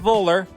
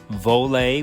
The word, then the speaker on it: Voler: This is giving a short introduction before we move on, where we talk to Brian Trapp from Voler, not Voler, Voler.